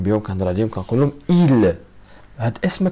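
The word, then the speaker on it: ils: كنهضر عليهم كنقول لهم إيل. هاد اسم ما كتنطقش ولكن كتكتب. ردوا بالكم، هاد اسم ما كتنطقش ولكن كتكتب إيل.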